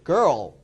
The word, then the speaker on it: girl: 한 번밖에 안 해요 걸 발음은 그 어 어 girl 세 번이나요 자 하나 더 얘도